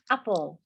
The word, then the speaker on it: apple: Now, la primera ya lo sabemos que es, recordamos que acaban LE, por lo tanto se pronuncia ul. Y es apple.